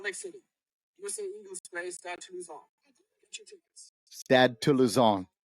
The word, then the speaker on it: Stade Toulousain: All right, for those of you that just wasted 8 minutes of us trying to figure out how to pronounce France's team. There you go. Stade Toulousain.